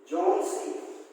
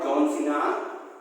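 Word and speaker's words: Johnsy: It is a very bad pronunciation. Okay, so the name is Sue and John C. Not John Cena.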